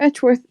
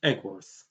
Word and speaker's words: Edgeworth: Edgeworth, isn't it? It's actually pronounced Eggworth. The D is silent.